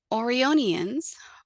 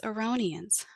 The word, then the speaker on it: Aonian: pronunciation with examples of orians Orion and even orites the correct way to address the people of the kingdom is as aonian aonian now why one may